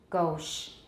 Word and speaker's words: gauche: Some speakers have tense vowels in a few new or unusual words such as creche, gauche. 我是用法文的发音 creche 是